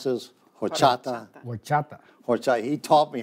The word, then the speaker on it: Horchata: This is how we pronounce this. Horchata.